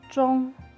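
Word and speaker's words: 中: with a bar in the middle and they pronounce that john middle is john second character is autumn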